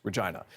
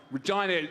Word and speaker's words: Regina: jokes that capitalize on how the city's name rhymes with vagina a phrase that the Rolling Stones used when they visited the city in 2006. someone told me you know Regina just it rhymes with